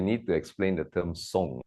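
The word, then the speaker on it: 松: I think first we need to explain the term song, right? Please do. Yes. Yeah. Song, the pronunciation is in Mandarin and it's also similar in Cantonese.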